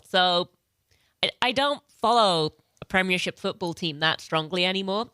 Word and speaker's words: Premiership: There's 4 syllables.